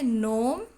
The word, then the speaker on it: gnome: जैसे gnome, sign. In these words G is silent.